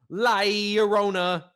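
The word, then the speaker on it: La Llorona: can pronounce it because the proper way to say it is um liarona wow yeah so um liorona i hope that wasn't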